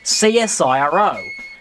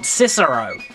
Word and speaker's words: CSIRO: organization jera knows that firstly we in Australia pronounce it csiro not cisero secondly the csiro has